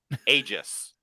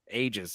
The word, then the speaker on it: aegis: How do you pronounce it? Aegis. Aegis.